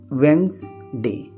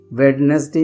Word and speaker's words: Wednesday: वेंसडे, वेडनेसडे नहीं बोलते हैं, वेंसडे।